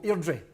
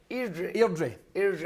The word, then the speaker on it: Airdrie: he taught me how to pronounce Airdrie. Like a local Airdrie. Airdrie.